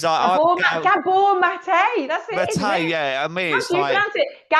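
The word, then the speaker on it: Gabor Maté: how did you put as gab mate it's gab mate that's it yeah I me pronounce it Gabby M gab M yeah I'm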